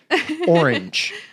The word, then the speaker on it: orange: that i grew up orange and i don't want some of these to come up i hope they don't i've looked really at the quiz yet but i just say orange almost one syllable there was a guy